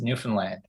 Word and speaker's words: Newfoundland: First of all, I'll do my friends from the rock a favor, and I'll tell you that it's pronounced Newfoundland.